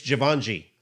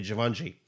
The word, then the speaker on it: Givenchy: I got this one because first, it's a very plain, nice looking jacket, and it's Givenchy. I think that's how you say it, Givenchy.